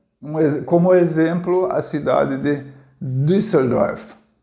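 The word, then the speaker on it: Düsseldorf: exemplo a cidade de dusseldorf dusseldorf é a forma como se pronuncia em alemão não é na indústria do surf e nem de surf é no surf certo tem uma palavra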